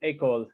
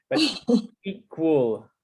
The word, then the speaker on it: equal: Okay, yeah, I almost thought I heard école, like the school, but equal. There's a little bit of that wool. Wool, equal. Equal.